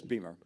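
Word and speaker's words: Beymer: Yes, Beamer. Beamer. Yeah. Like By the way, BMWs?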